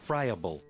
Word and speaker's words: friable: Fryable. No, I said it right. Easily crumbled or pulverized. Okay, that's going on. What was I? Friable asking her over and over again to come home.